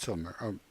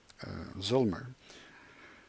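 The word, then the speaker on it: Zillmer: actuary our Raziel nur or in German pronounced August summer in English - probably August Zoomer it's always very confusing how Americans pronounce foreign names but that's okay I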